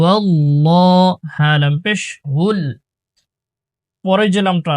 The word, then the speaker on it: আল্লাহ: খাড়া জবর লাললাহ এটা আল্লাহ শব্দের লাম মোটা করে উচ্চারণ করতে হয় হু আল্লাহ হু আল্লাহ হালাম পেশ হুল পরে